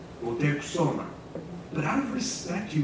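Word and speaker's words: Motecuhzoma: Tie all this pronunciation analysis together and we can dig up a glimpse of what Montezuma's name sounded like in his day. Moteksoma, Moteksoma.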